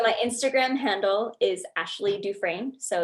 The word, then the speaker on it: Dufresne: everyone wants to spell Dufresne, not Dufresne. Right. So my Instagram handle is Ashley Dufresne. So it's ASHLEY.DUFRESNE. Beautiful. That's it. Thank you. Yeah, I got a silent S on there.